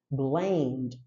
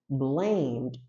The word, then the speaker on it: blamed: o verbo culpar alguém nós falamos blamed blamed então o e ele não é dito só existem dois casos